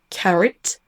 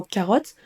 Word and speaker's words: carrot: Même si vous entendez un anglophone prononcer le mot carrot, vous allez certainement faire plus confiance à vos yeux qu'à vos oreilles et vous allez certainement prononcer le mot carotte avec un comme vous le feriez en français. Donc vous allez dire carotte au lieu de carrot. Carrot.